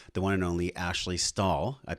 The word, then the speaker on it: Stahl: about this is the one and only ashley stahl i pronounced your last name correct yeah so the